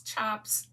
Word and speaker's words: tjap: There's usually six chops in a collection and when you're seeing that word that spelled TJAP, that's how you pronounce it chop.